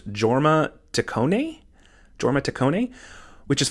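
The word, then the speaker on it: Jorma Taccone: was the director I believe his name is pronounced Jorma tone Jorma tone which is it's funny because when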